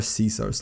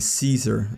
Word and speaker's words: Caesar: If they pronounce it with a C sound like in Caesar, they are against the Legion, but if they pronounce it with a K sound like in Kaiser, they are for the Legion.